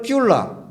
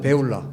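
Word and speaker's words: בְּעוּלָה: 그 다음에 헵시바라 하며 내 땅을 뷸라. 왜 뷸라라고 여기 표기를 했는지는 모르겠는데 베울라입니다. 베울라. 히브리 말에 베울라.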